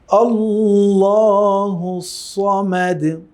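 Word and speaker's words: اللّٰهُ الصَّمَدُ: এগুলো ডিফারেন্সটা আপনি ধরতে পারলে হয়ে যাবে এর উচ্চারণ কি হবে আল্লাহুস সমাদ আল্লাহুস সমাদ আল্লাহুস সমাদ সমাদ সদের উচ্চারণ কোন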